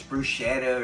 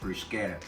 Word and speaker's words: bruschetta: A lot of people think it's bruschetta or this and that and the other, but it's actually pronounced brusqueta.